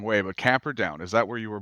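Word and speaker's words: Camperdown: if I say this the wrong way but camper down is that where you were born in New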